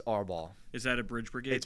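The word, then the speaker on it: árbol: know they were going to ask that it's AR ball is that a bridge Brigade thing yeah it's pronoun it's spelled a r b o l but whenever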